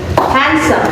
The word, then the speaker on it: handsome: you the clues oke if I trust the first syllable ya you will have handsome handnya yang tinggi ditekan itu maksudnya lebih keras, lebih tinggi handnya biasa aja.